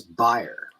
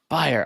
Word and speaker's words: Beier: thanks for having me so how do you pronounce your last name it is buyer buyer ah so close see when i sent you